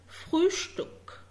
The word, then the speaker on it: Frühstück: تمام، عشان تعرف تنطقه صح. زي Übung يعني exercise تمرين Übung، أو زي Frühstück Übung يعني تمرين، Frühstück يعني فطار.